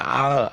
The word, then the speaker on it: hour: three hours four hours of course the h is silent for one hour two hour three hours four hours five five hours because the h is not pronounced h is a silent